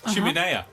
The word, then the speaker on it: chimenea: out their famous, and I think this is pronounced, chiminea. Chimenea. Oh, was it? Chimenea. Chimenea, Chim, yes. chimney, chim, chimney, chim, chimenea. Yeah, yeah.